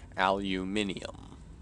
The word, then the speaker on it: aluminium: obviously the pronounce the the correct pronunciation is aluminium did they literally take the eye out in this game and make it aluminum aluminum instead of aluminium just realize that it like you can pronounce it wrong while playing this game and actually be pronouncing it right what is my character